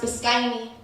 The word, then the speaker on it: Biscayne: Watch the light stream between the clouds of Biscayne, where Biscayne is pronounced Biscayne.